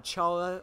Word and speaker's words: Chara: fallen human Shailja or Chara or pronounced Cola it's pronounced color but for the sake